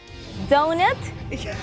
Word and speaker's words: doughnut: O-U-G-H is an O sound.